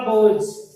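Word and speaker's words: boughs: द चंपा बोझ, यहाँ पे बोझ में GH साइलेंट रहेगा।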